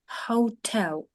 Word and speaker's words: hotel: п'ятий є п'ятий Дякую Якщо у нас в англійській готель він буде читатися Hotel почули наголос на другому і буде читатися по-любому